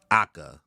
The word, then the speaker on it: H: So, my name is H, but with the Italian pronunciation, Aka.